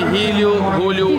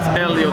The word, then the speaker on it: Elio: No, people call me Julio, hello. Julio. Which is okay, it's okay, but it's Elio, the right pronunciation.